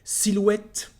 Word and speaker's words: silhouette: Silhouette.